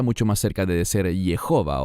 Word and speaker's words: Jehová: Y por eso debe ser pronunciado de esta manera y no Yahweh, como los eruditos alemanes en tiempos antiguos enseñaban. Es mucho más correcto decir Jehová o Jehová.